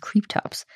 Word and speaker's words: Kryptops: dinosaur of the day tops i've also heard it pronounced creep tops that was a request